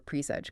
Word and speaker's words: presage: That seems to be where presage comes in. Presage. Exactly. U.S.